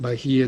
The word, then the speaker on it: Bahiya: the bark cloth so that's the way it's pronounced bahia darucharya of the bark cloth so he probably